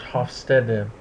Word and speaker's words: Hofstede: Hofstede, who I've also heard pronounced Hofstede, did his data collection from 1967 to 1973.